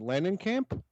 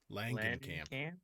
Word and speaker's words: Langenkamp: Langenkamp? Langenkamp. Langenkamp? I'm going to call her Nancy, too. Langenkamp.